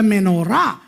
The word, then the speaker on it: Menorah: சில பேர் மினோரா என்கிறார்கள், பரவாயில்லை. සමහරක් අය මිනෝරා කියලාත් කියනවා ඒත් කමක් නැහැ. It doesn't matter how you pronounce it, menorah or menorah.